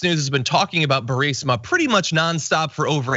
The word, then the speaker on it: Burisma: Here is a video of the president trying to pronounce the word Burisma. 8 months after his alleged meeting with the Burmese executives. So this Burmese, they say, pronounce it Burmese, a real beautiful company.